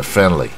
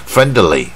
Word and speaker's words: friendly: 乎可以不用发音的 friendly 啊，不然你说 friendly 啊，也是很精确，